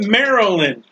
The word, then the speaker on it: Maryland: church it's called maryland i don't know how you get maryland out of m-a-r-y-l-a-n-d that's maryland that's like christ mass you